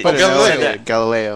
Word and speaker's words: Galileo: galile I would like how do you say galile in English like gal galile galile they call it in French the round say Galileo galile you know like yeah